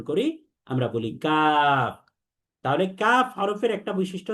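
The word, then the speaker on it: كاف: এবং কাফের মাখরাজ হচ্ছে এই কফের মতোই জিহ্বার গোড়া, তবে জিহ্বার গোড়া থেকে আরেকটু সামনে বেড়ে তার বরাবর যে উপরের তালু আছে, এই তালুর সাথে লাগিয়ে দিতে হবে।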